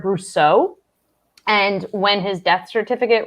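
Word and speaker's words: Bricoux: of all i apologize i am gonna correct your pronunciation since i do know this it's robert roger brousseau and when his death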